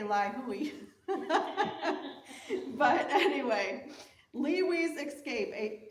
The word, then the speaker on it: Ly Huy: they have the pronunciation here and I believe it's Lee we's Escape I would say lioy but anyway Lee's escape